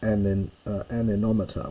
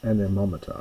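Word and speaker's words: anemometer: You might have heard of an aninometer which um animometer I should say which measures wind force, wind speed.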